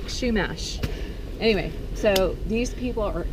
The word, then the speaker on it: Chumash: little history about the Chumash Indians and it's pronounced Chumash like Chumash anyway so these people are ancient they're uh